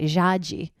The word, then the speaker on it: Jaji: which is also jade but in portuguese it's pronounced in a totally different way jaji and i realized the